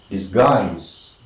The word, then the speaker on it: disguise: course disguised as a stranger right that is disguised let us learn that d-i-s-g-u-i is this this